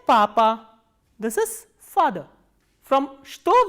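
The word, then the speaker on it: что: next interrogative word is च त ओ एंड एज I've already told you दस this word is pronounced as स् तो not like चतोर एंड the third interrogative word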